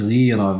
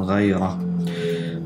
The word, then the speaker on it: Ghayra: Das heißt nicht Rira, wie es oft ausgesprochen wird, Rira, sondern Raira.